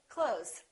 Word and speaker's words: clothes: one month two months same thing with the word clothes we don't really say clothes you might hear a tiny th with some people's pronunciation but most people just say clothes I bought some new